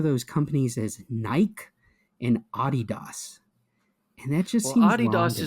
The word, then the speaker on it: Adidas: I So you're support not gonna Adidas.